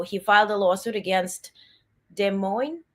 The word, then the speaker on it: Des Moines: So he filed a lawsuit against Des Moines, right? That's how you pronounce it, Register, and its former pollster Ann